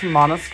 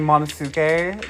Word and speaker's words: Monosuke: It's pronounced Monosuke, and I've been saying Monosuke like a filthy American.